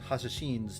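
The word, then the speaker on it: Hashashin: Why do you keep saying it like that? It I I looked up a pronunciation guide. That's how it's supposed to be pronounced, isn't it? I'm English. Most people who speak English just go with assassin. I was looking up the original pronunciation.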